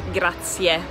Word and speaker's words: grazie: we see each other again then we have grazia which means thank you remember to pronounce the ie ending at the end it's grazier then we have musculusi or permesto both of